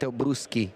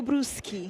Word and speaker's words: Brusi: Mateo Brussi. Exactly. Ch in Italian. It's like a K sound.